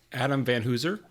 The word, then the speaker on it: Adam Van Hoozer: in one of our guests uh this is Adam Van huser am I pronouncing your name right Adam yep you are